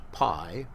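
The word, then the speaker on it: π: what you learned as Pi we pronounce it's called the Greek letter is called p and it's pronounced P so when when you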